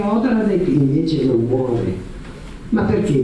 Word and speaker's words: Odradek: Io vorrei fare, prima degli altri, a proposito della mia posizione, una domanda a proposito di Odradek, che si pronuncia così, Odradek, ecco, Odradek non può morire, perché per morire ho capito io che è necessario agire, avere un'attività finalizzata, questo volevo sapere.